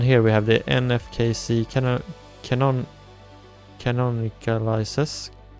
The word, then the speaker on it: canonicalizes: And here we have the nfkc canonicalizes. How do you say canonicalizes? Sure thing. You typically say it like this. Canonicalizes. Basically just stress that non in the middle and let the rest flow out.